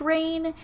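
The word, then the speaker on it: Rayne: again to rain louisiana it is r-a-y-n-e so i think it's pronounced rain if you just started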